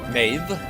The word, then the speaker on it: Maeve: Maeve. Maeve as in Maven.